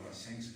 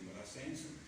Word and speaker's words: Brassens: C'entra perché Brassens, suo papà era un muratore di origini comunque dell'Occitania, il nome Brassens è una derivazione, cioè è un nome occitano, infatti si legge la S, e tutti i